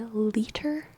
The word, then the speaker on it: liter: one t it signals that it should be liter liter um similar to like the pronunciation of l i t r liter um